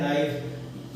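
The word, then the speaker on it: knife: English में क्या है इंग्लिश में एक नाम है नो मगर नो होना चाहिए कैन आई होना चाहिए मगर नाम क्या है नाइफ यहां पर हिंदी के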